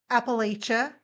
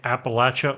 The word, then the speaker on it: Appalachia: A lot of people pronounce it um Appalachia, but it's latch. You know, you don't le the door, you latch the door. So Appalachia like in the Appalachian Mountains.